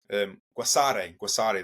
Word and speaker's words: Guasare: Out in Venezuela, they say that Gurese is the first cacao. Guasare, that's how you pronounce it, is the first cacao that ever existed on Earth.